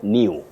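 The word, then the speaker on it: knew: So, new and new. K-N-E-W, new. N-E-W, new.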